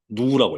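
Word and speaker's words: ν: 요걸 뭐라고 읽죠, 요거? 어, 누라고 읽어요, 누.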